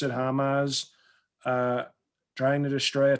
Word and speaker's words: Hamas: ass it's it's not it's not homos it's hamas you know what you